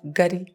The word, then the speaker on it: Ngari: So we have to take about the pronunciation. This is called Ngari.